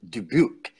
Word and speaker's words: Dubuque: was born okay now you have a good pronunciation of it Dubuque that's like so are you so here's the